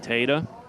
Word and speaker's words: Tada: number 14 Nick Tada Tada is the pronunciation I call him Tata Pata patata you know the rest Nick Tada had a